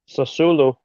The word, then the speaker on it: Sassuolo: Sassuolo.